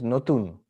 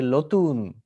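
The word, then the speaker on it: নতুন: In Bengali, new is notun. In Hindi, you say nutan, notun. And he would say lotun.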